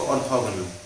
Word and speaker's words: orthogonal: ऑर्थोगोनल।